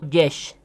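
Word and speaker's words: יש: Como pueden observar en la imagen que les muestro ahora en pantalla, Yud Shin, pronunciado Yesh, significa hay o existe.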